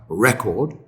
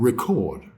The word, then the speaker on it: record: We have record and record.